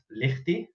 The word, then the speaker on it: Lichty: Yes, so my surname is pronounced Lichty, but Lichty, whatever you choose, whatever works.